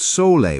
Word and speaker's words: sole: You create a powerful traditional remedy called sole water.